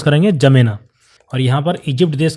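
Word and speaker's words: N'Djamena: देश जिसकी राजधानी है जमेना इसको हम कैसे प्रोनाउंस करेंगे जमेना और यहां पर इजिप्ट देश के नीचे यहां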